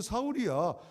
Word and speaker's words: 사울: 그리고 나는 지금 바울이라 하지만 내 이름은 사울이야. 사울은 히브리식 발음이고 지금 헬라 사람들 상대하기 때 헬라식 발음이 바울이에요.